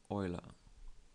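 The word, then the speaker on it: Euler: type and we want Oiler so the other ones I don't like sorry about that but um yeah I prefer the or oer oer is the correct pronunciation and that is why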